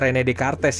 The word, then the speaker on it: René Descartes: René Descartes, bacanya René Descartes ya, waktu saya belajar René Descartes melarikan diri ke Belanda, Voltaire ke England, Thomas Hobbes ke Prancis.